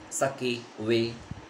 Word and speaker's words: sake: is pronounced like far in father and ki rhymes with way that means sake sucky way okay so this made taro sadder than ever